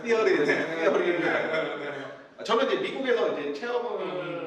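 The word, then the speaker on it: Theory: 티니치 발음 번데기 발음입니다. 티어리.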